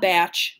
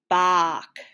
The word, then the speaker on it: Bach: of all time ah batch great to see you uh my name is pronounced bach yeah whatever listen buddy